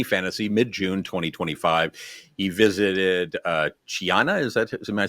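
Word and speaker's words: Chania: So some people say Hiana, other Kiana, Chiana in Spanish.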